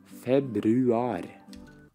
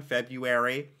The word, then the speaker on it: Februar: Februar. Oh my gosh, every single word he ends with this ar, this roll.